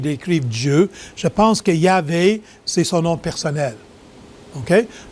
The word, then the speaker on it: Yahvé: Maintenant, je réalise que pour certaines personnes, on prononce Yahvé plutôt que Jéhovah. Et Jéhovah, c'est probablement la façon que ceux qui parlent latin ont voulu traduire l'hébreu. Mais dans l'hébreu, c'est vraiment Yahvé et c'est son nom.